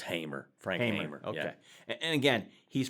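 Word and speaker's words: Hamer: In the 1967 movie Bonnie and Clyde, they called him Frank Hammer, but it actually he was pronounced Hamr.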